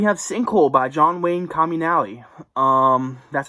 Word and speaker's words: Comunale: anyways um we have sinkhole by john wayne communality um that's how you say his name i